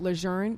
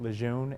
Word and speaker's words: Lejeune: what are top commanders at Camp luzerne doing to help this effort at our leaders in every public event that they go to have pronounced it the way it is meant to be pronounced there are people in around this area that have grown up saying Lejeune and we hope that